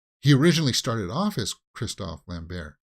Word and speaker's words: Christophe Lambert: It's not Christopher Lambert. See, I thought that's also the way that they pronounced it in the title, Christophe Lambert.